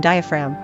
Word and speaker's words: diaphragm: In the speech of some people, kiln is homophonous with kill, G is always mute in diaphragm, phlegm, and so forth.